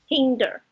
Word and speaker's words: hinder: small assess and hinder why we say behind or hide something but here we need say hinder so what do you